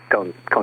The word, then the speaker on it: Koehn: We always spell it with Cone with a K, but we'll verify. Yeah, it looks like KOEHN, I think is what it says. KOHNE, Cone dry lake bed.